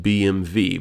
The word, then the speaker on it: BMW: So, in Germany, they pronounce it BMV because they say the as far as I know, they say the W letter like the letter W.